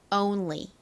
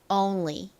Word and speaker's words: only: 차 들어 보시면 온이 아니라 온 이렇게 Oh 발음이나요 자 다시 한번 해 볼까요 only 한 번만 더 해 볼까요 only 좋습니다의 의미는 오직 단 하나 모모모모 man 요런